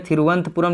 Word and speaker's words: तिरुवनंतपुरम: तिरुवनंतपुरम अंग्रेजी में लिखूं तो अंग्रेजी में तिरुवनंतपुरम लिखाएगा, लेकिन प्रोनाउंसिएशन तिरुवनंतपुरम होगा, ठीक है, तिरुवनंतपुरम, ठीक है।